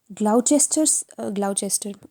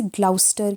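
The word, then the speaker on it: Gloucester: वो ये है कि ग्लाउचेस्टर, आई एम सो सॉरी, मैं ग्लाउचेस्टर बोलती हूँ कि that is हाउ I remembered, otherwise इसे ग्लाउस्टर कहते हैं, तो ग्लाउस्टर इज़ द प्रोनाउंसिएशन।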